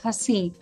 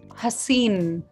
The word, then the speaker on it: हसीन: in this song the word is pronounced as हसी with N एट द एंड एज a nasal sound an alternate प्रोना इज हसीन हसीन and both the pronunciation are correct there is a related